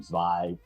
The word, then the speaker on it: Zvi: your name so uh my name's zv um the funny thing is it's actually like the israeli or the hebrew pronunciation but my great grandfather